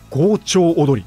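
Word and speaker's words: 強張舞踊り: のエピソード国分の豪朝踊りというものがあります強調踊り強く張るまいと書いて強調踊りという読み方ですなかなか見ない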